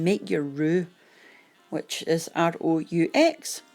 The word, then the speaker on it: roux: So while that's doing its thing, you can make your roux, which is R-O-U-X, pronounced roux, R-O-O.